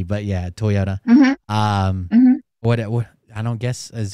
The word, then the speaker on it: Toyota: in Japanese okay and Toyota is the same way we say the same Toyota yeah you guys put a lot of emphasis on the T but yeah Toyota um I don't guess